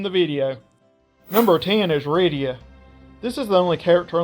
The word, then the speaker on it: Rydia: World of Final Fantasy, and her name is pronounced Rydia in both of those games, making it clear how to actually say her name.